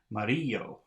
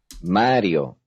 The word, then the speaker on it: Mario: it's written correctly Mario this is written correctly because if it had an accent over the eye it would be mariyo Mario number 35.